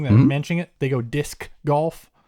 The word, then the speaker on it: disc golf: else about it yeah how do you pronounce it dis golf so you don't even use the C think about that really